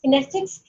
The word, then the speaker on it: kinesics: The correct pronunciation of kinesics is kinesics, and then we have covered the oculexes, and then we have covered the proxemics.